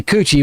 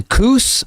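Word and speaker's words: Cüce: unlock c e and I don't think that's supposed to be coochie but that's kind of how it sounds the Coos Maybe yeah Coos these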